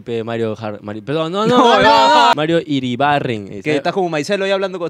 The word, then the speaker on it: Iribarren: ¿Es Iribaden? Iribarren. ¿Es Iribarren? No, sino es que ya la gente se ha acostumbrado a decir porque no puede pronunciar así como. Es que raro, es que raro pronunciar una R, claro. una R o R, como uh-huh. Chucha se diga. Es Iribarren. Sí.